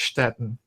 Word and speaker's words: Stettin: It would be over around the modern city of Stettin or Stettin. I can't pronounce it in Polish, but the German pronunciation is Stettin.